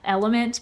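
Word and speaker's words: LMNT: mean speak to elements is it element or El yeah it's l m n t is how it's spelled so if you like type in element the actual word it's not going to come up but you say element okay I'm just going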